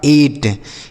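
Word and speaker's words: eight: आई जी एस टी तो ई आई से पढ़ेंगे ए और टी से यह लिखा आपका एट क्या लिखा गया है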